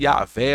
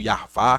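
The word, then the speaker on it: Yahweh: Por justamente essa questão, essa associação que está tudo envolvido, ou seja, esse Yahvé ou Yarvá, como muitas pessoas pronunciam, né?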